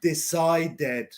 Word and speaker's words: decided: If it is D-E-D, we pronounce dead, decided.